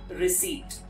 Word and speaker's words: receipt: it is not so you do not pronounce the letter p but what you are going to say is receipt so we get a